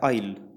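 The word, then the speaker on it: aisle: इसको मैं आपको बताऊं, इसका जो प्रोनाउंसिएशन होता है वो होता है आइल, ठीक है। आइल होता है इसका, लेकिन आपको हमें तो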